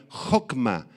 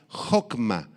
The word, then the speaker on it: hokma: Israel esta palabra sabiduría hokma con h y acento en la o y con k hokma sí es la capacidad